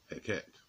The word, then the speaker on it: Hecate: Heka, spiritual science, and Hecate, or Hekket, as they pronounce it in, you know, the northern areas of the planet, and where she comes